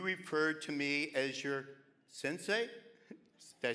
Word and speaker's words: Sensei: years ago you referred to me as your Sensei did I say it right yes okay being